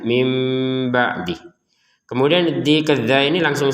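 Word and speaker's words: مِن بَعْدِ: Jadi kita jangan lagi membacanya min ba'dih tapi membacanya mim ba'dih.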